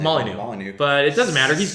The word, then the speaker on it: Molyneux: Well, how do you pronounce his last name? Molyneux.